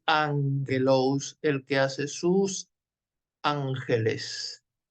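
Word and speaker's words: ἄγγελος: de de primer año la doble gama no se producía no se pronuncia ague sino Ángel doblegama para qué estamos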